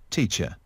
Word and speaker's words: teacher: Âm này phát âm là hai âm, hai phụ âm, âm t và âm sh.